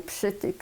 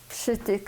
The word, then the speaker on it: Przytyk: This was already in Lodz because I was born in Przytyk, in a small town. How do you spell that town? Przytyk in Polish, P, Z, and S, T, Y, K, Przytyk.